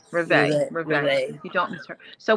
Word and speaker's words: Reveille: I was pronouncing it Reeve. Reveille.